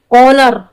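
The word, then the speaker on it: honour: जहां एच के बाद ओ आ जाए तो एच को साइलेंट कर देते हैं, लिखा तो रहेगा लेकिन हम पढ़ेंगे नहीं, इसे बोलते हैं साइलेंट लेटर।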